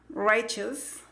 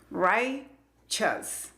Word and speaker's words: righteous: La primera sílaba, right, esa sílaba se escribe con la letra I. La pronunciación es con el diptongo I. Right. Esa sílaba, right, es la que tiene el acento o el estrés. Righteous. La segunda sílaba no tiene estrés, entonces se pronuncia con el sonido schwa. Righteous. Así es como se pronuncia esta palabra.